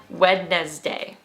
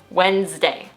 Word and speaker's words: Wednesday: When you first look at this word, you'll probably say something like Wednesday, Wednesday, something like that. But that's wrong, that's false. The right pronunciation of this word is Wednesday, 2 syllables. Wednesday. I really don't know why the D is in that word, but we just forget about it when we pronounce it Wednesday.